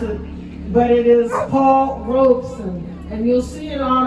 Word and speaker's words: Paul Robeson: And I emphasize that because many people mispronounce it, but it is Paul Robeson.